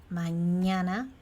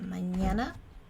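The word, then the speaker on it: mañana: a little stick and that sounds like like Manana for example uh Manana that means tomorrow or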